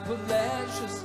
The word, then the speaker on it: Palacios: Pronounce it Refugio. City folks, they don't know. It looks like Palacios, but sounds like Palacios.